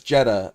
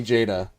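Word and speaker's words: JEDA: Yeah, like I said, I definitely would never read the ter the the word J E D A as Jedha. It would only be Jada. Never would have guessed that's how you pronounce that.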